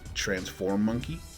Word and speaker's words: Transformonkey: So again, Transformonkey.